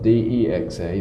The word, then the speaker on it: DEXA: and probably all of you've heard of a dexa I usually spell it D EXA they spelled it dxa we pronounce it dexa